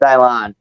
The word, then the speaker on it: Dylan: It's spelled Dylan, pronounced Dylan.